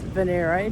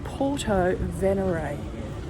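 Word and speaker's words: Porto Venere: shops and cafes thank you well I've been pronouncing Puerto Venere as Venere but in fact I heard someone call it a local that is called venerate so it's Porto venary so there you go the pronunciations it's easy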